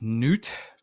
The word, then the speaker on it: Knut: Have you ever heard of, like, I think it's pronounced like Newt, but it's like KNUT.